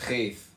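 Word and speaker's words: ח: Cheth pronounced Cheth, transcribed as CH, the number 8, meaning field of fence, the intelligence of the house of influence.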